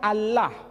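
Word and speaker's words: الله: Tidak ada seorang pun di kalangan masyarakat Timur Tengah ketika menjumpai istilah Alif, Lam, Lam, Ha dibaca Allah. Tetapi mereka serempak menyebutnya dengan pronunciation Allah.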